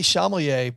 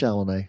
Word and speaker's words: Chalamet: Also, I call him Timothy Chalamet, but it's just Chalamet. Timothy Chalamet. It's just Chalamet, like Shalimar. Timothy Chalamet, that great group from the Gwyneth 80s.